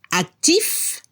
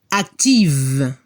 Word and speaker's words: actif: La pronunciación para el masculino se debe escuchar la F al final, actif, y al femenino se escucha el sonido V, como una abeja. Active.